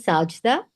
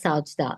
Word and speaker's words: Sajeda: Yeah, it's actually Sajda, but I didn't want to interrupt you because you were in a flow. But it's pronounced as Sajda. The J is not silent.